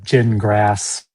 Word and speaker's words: Gingras: They're gin grass. It's pronounced gin like you drink and grass like you mow.